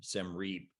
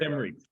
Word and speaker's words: Siem Reap: Siem Reap, we're going to focus on, which is where I have my art gallery and school.